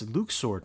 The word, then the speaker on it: Luxord: Oh, it's Luxord now. Alright, you're the boss. I'll be sure to correct my pronunciation.